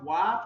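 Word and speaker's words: は: And notes the high particle is pronounced wa from the first Minago Kyokato.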